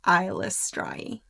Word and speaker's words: Eilistraee: I believe she pronounces, and the author Ed Greenwood also confirmed that it's pronounced Eilistraee.